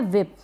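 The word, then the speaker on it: whip: यहाँ पर एक और स्पेलिंग है, ये क्या है विप, विप, इसको विप पढ़ेंगे, वाइप ना पढ़ें, विप यानी कि चाबुक, कौड़ा या फेंकना, इस तरीके से।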